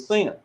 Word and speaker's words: Sin: Moon is on sin it's actually pronounced sin in the Babylonian language so what they what